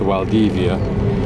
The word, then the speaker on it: Valdivia: This is Coral Bay, not Valdivia, and it's pronounced Valdivia, so the V is a W.